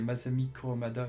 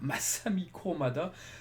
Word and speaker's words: Masami Kurumada: Avant je disais Masami Kurumada, maintenant je dis Masami Kurumada. Donc voilà, je m'améliore en prononciation.